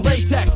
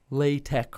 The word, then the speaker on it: LaTeX: But I just once you think of a latex joke, it's not even pronounced that way. It's latex or latex is the official way to pronounce latex.